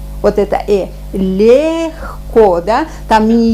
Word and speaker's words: легко: Возьмем вот такой вариант, когда мы пишем Е, а произносим Это, например, в русском языке можно встретить такой звук в словах весна, легко. Вот это легко, да?